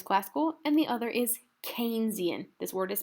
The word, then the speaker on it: Keynesian: One is classical and the other is Keynesian. This word is pronounced Keynesian, all right?